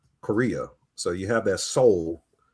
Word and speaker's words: Seoul: So you have that Seoul, or is it pronounced Seoul? But it sounds like it's soul, like the actual human soul. Yeah, it does sound like that. It is.